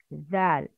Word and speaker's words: ذال: This is the tip of the tongue. Zal, az.